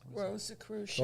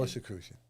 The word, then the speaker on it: Rosicrucian: Rosicrucian. Rosicrucian.